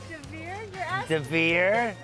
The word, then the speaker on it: d'Hiver: How do you pronounce it? Devere.